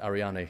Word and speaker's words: Ariane: started, which is Ariane, which apparently is pronounced Ariane, so I've been doing that wrong.